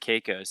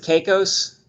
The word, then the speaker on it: Caicos: i see dave's watching us from turks and caicos he just uh chatted us up on the